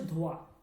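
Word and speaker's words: دھواں: লেখার সময় আপনাকে লিখতে হবে কিন্তু এইটা উচ্চারণ হবে না, হালকা নাকের মধ্যে একটু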